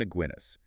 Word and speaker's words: Aguinis: mouthful it's by Herman aguinis and that rhymes with beer by the way oh